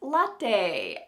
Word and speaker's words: latte: Our final Italian word today that is used in English is latte. Latte. Notice how this word, if you are Italian, you've noticed this word is sounding English, it's not sounding very Italian anymore, but when you go